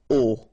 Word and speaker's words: au: You write it AU, you pronounce it o, okay?